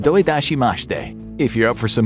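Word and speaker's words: どういたしまして: Well, that's because he's trying to say you're welcome in Japanese, which is pronounced doidashimashite.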